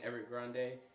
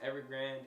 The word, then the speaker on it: Evergrande: video on this where i was saying every grande it's actually pronounced evergrand and this is one